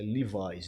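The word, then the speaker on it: Levi's: Na década de 80 e 90, a sociedade de Arapiraca, né, a alta sociedade usava muito as marcas Zump Leves, cuja pronúncia é Livais.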